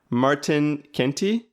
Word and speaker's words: Martijn Kentie: it's perfectly great pronunciation I know that the writing of my name's sometimes asks a lot of questions because there's a Jay in there but but I D I'm